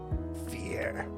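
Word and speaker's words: vier: actually there we go fear i love saying four in german it's it just feels so metal i mean it's just the number four but you know in english it sounds like fear like you ain't scoob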